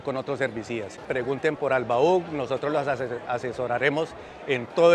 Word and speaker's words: Albaugh: Bueno, Albaug, ¿así se pronuncia, no? Albaug, sí, señor.